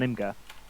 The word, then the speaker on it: Imgur: you told me off last week for a mispronunciation so i thought i'd better check uh this week so we're going with imgur yep yep so what they did was is